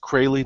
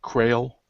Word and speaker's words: Crayley: So it's pronounced Crayley, not Crail.